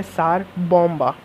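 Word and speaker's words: Tsar Bomba: Guys इसकी spelling है TSARBOMBA, जिसको हम बोलते हैं सार बॉम्बा। गाइस ये वन ऑफ the most destructive and strongest बॉम्ब है इन द अर्थ।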